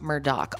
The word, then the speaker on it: Murdaugh: So the Murdaugh family, their name looks like Murdaugh. It's pronounced Murdaugh.